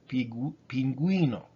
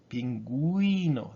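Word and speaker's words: pingüino: So if you see those two dots, that means pronounce me, please. I gotta be pronounced here, like in the word pinguino, penguin, pinguino. That U has two dots above it.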